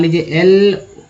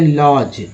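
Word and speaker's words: lodge: ये देखिए यहाँ पर DG में एक वर्ड ले लेते हैं लॉज, ठीक है, LODG, लॉज।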